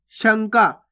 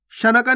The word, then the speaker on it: शंका: शंका, शनका नहीं पढ़ना आपको। अगर आप शनका पढ़ोगे तो पूरा ना का उच्चारण हो जाएगा इस प्रकार से, तो एक होगा शनका, शनका। और जबकि अपन पढ़ कैसे रहे? शंका, शंका।